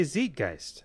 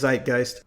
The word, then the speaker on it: Zeitgeist: to go and ask my girlfriend how to pronounce Zeitgeist. Because your knee jerk is to say Zeitgeist.